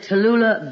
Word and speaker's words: Tallulah: hello Miss this is Tallulah Bankhead who Tallulah Bankhead what's so funny about that sounds as if you're saying to Lula Bankhead I am saying Tallulah Bankhead oh I beg your